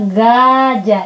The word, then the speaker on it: gajah: Kalau bahasa Indonesia bacanya gajah. Ini kalau bahasa Indonesia g, bukan h tapi g, dibacanya ga. Hota j, jadinya bukan ha tapi ja.